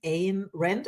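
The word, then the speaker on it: Ayn Rand: You were inspired by Aristotal and Ain Rand. I don't know how you pronounce this name, but I know this author. You got it right. In Randon. Yeah. As in mine.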